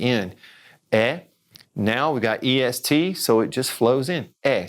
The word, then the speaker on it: est: word this one a est you're going it sounds just like the one above it es it sure does and why because we don't say the T at the end a now we don't